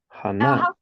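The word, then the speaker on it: חנה: English to Hebrew so in Hebrew Hana if it's Hannah that it's not an uh a hate but a hat oh yes yes so that first one is the and then the the last one is the hey so Anna good catch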